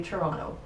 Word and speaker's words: Toronto: Some people will say Toronto, so the second T is silent, and some people will say Toronto. And the people that are from Toronto say Toronto.